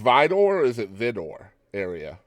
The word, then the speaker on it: Vidor: yeah so you're originally from the is it pronounced vdor or is it Vidor area vider vider and that's just outside of Bowmont which and